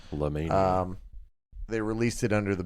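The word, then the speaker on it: Llamania: Why are you having such difficulty pronouncing because it's spelled like llama but merged with the word mania. La Mania.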